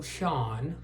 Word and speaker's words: Schon: Okay, the answer is, it is Neil Schon, not Schon. A lot of people pronounce it wrong.